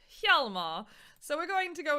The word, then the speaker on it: Hjalmar: So in between the last game and this game, guys, my chat corrected my pronunciation, and it is in fact not Hjalmar, it is Hjalmar.